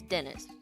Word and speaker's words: Denise: part is it smell it's spelled Denise but it's Dennis oh fancy yeah my